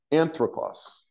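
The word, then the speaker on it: ἄνθρωπος: What's the pronunciation again? Anthropos.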